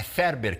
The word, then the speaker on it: Farber: É Ferber que se pronuncia, mas se escreve Farber, né, Monique?